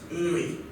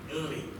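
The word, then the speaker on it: Nri: That's how it's actually pronounced, Uri. So you have to put some emphasis on the N before adding the R-I, Uri.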